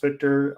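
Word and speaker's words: Wiktor: And also it's Victor, but it's spelled with the W. I think that's still pronounced Victor.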